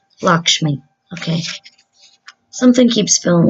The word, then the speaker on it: Lakshmi: ways so let's see Lakeisha me let's make sure I pronounce it right it's pronounced Lakshmi Lakshmi okay something keeps feeling